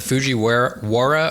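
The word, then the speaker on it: Fujiwhara: I like that you're going to make me pronounce this. Put it on. Yeah. Uh, it's the Fuji Wara or WA effect.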